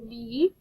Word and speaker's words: knee: that's it nine okay this is a knee oh i hear the silent kn again so that was